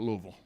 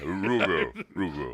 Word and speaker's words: Louisville: And still to this day, upset he never got to play basketball at Louisville. Oh, well, hey. And I even said it right. Yeah, Louisville.